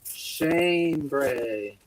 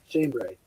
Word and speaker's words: chambray: I asked that shame shame break pronounced Shane Gray Shane Bray chambray you know how many